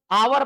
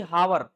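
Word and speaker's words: hour: पर इसके उच्चारण में वोवेल आता है। क्या पढ़ते हैं हम इसको? आवर पढ़ते हैं ना कि हावर तो आवर में आ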